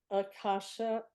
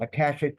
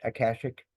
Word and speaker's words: Akashic: It's published by Akasha. Am I pronouncing it right, Ron? Akashic books, Akashic.